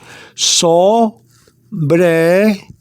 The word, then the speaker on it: sobre: written down here okay sobre sorry this is how you pronounce it so bray to stand out to